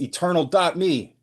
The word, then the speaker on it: eternal.me: It's eternal. Me. Eternal. Me. I am so sorry. eternal.me. And it's it's spelled just like it sounds.